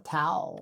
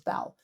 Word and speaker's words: 道: Zǐ), Number one is 道(dào), or Tao in the old translation. In contemporary usage, it is transliterated as Dao, "the Principle."